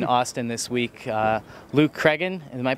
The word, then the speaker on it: Cragin: busy men in Austin this week uh Luke craan am I pronouncing that right yes that's correct all right